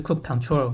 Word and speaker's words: kubectl: 在安装 Minikube 的同时， Kubernetes 的命令列工具 kubectl，或者有人会念作 kubectl 或是 kubecontrol，也会一并被安装起来。